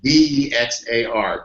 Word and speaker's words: Bexar: It's Bexar. It's pronounced Bexar County in Texas.